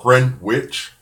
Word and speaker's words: Greenwich: runs through Greenwich and spelled Greenwich but Greenwich is how it's pronounced and it runs through